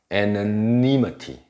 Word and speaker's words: anonymity: 能念成 a，还是念成 anonymity, anonymous。